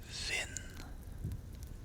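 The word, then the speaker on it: vind: It is vin. And as you can hear, the D is not pronounced here either.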